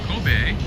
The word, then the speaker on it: Kobe: soon weather is good azim is saying Kobe Kobe that's the way to pronounce it KOB has most expensive steak I